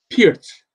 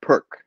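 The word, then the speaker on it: Pirc: hi mom um it's how do you pronounce p-i-r-c pierce pierce yeah vasia vasia pierce because i would when i was just reading it i said perk right oh yeah yeah that's what i heard when i was playing year when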